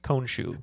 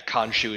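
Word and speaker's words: Khonsu: kombat so i just said i think it's cone shoe that's why oh we i i thought it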